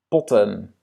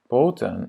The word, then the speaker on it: potten: Potten, on a voyelle, consonne, consonne, voyelle. Donc, qu'est-ce qui se passe avec le premier voyelle? Il va être court. C'est pas poten, parce que poten, ça existe aussi. Ce sont des pattes d'un animal. Mais ce sont des potten. Ja?